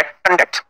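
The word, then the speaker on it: conduct: और यहाँ ये वर्ब है, और जब वर्ब है इसका सही प्रोनाउंसिएशन जो है वो है कंडक्ट, ये इसका सही है, ठीक है। वर्ब है तो इसमें स्ट्रेस कहां लगेगा, स्ट्रेस दूसरे सिलेबल पे लगेगा, यानी इसमें तो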